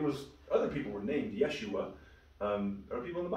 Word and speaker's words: Yeshua: Do you guys know how they pronounce it in Hebrew? Jesus. It's not Jesus. I love that. Sounds good. Yeah. Yeshua. Yeah. Yeshua.